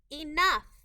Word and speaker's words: enough: remember that by heart children enough enough the e in this word is making a long e sound the o u in this word is making a short u sound ah the g h in this word is making an f sound enough eyes i z